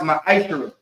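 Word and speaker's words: מעשר: Malachi chapter 3, verse 8 through 10 means a tenth in the Hebrew is pronounced ma'ashara.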